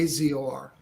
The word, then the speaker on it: Azor: way you use your last name can you spell it the one you told me earlier okay Azor a-z-o-r and the first one is r-a-y